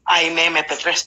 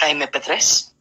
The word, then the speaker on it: Aime P3: que normalmente se, bueno, lo pronuncian Aime MP3, pero no, es Aime P3, y estaba registrado ante el INPI, y la sorpresa es que no está registrado.